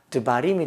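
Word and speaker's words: דְּבָרִים: 그런데 여기에다가 복수형으로 따바림, 말하다가 말씀들 따바림이 되니까 림의 강세가 붙는 겁니다. 그러니까 다바림 하려니까 다도 해야 되고 림도 해야 되니까 발음이 힘든 거예요. 습관상 드바림이 되어버린 겁니다. 그래서 드바림, 강세에서 멀어진 이 달렛에 아가 빠지고 그 쉐아가 붙은 겁니다.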